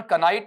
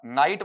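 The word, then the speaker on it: knight: करोगे ना बेटा, तो इसका उच्चारण कनाइट नहीं होगा, कनीट नहीं होगा, बल्कि क्या बनेगा, नाइट बनेगा।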